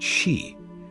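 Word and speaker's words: 四: In Japanese, the number 4 is pronounced shi, which is also the word for death.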